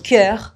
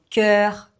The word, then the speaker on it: cœur: Donc, cœur, sœur. Mais j'ai appris une astuce. Il faut le prononcer en laissant vraiment la bouche un peu ouverte. Donc, cœur, sœur.